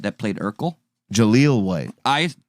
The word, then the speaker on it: Jaleel White: Did you hear that Merkel No, is having a fantastic time with 90s actor Jamal White that played Urkel? Jaleel White.